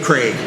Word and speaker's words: Krieg: Jim Zorn and Dave Craig. Yeah, Dave Craig too, with a K-R-E-I-G kind of Craig. Yeah, looked like Krieg, but pronounced Craig.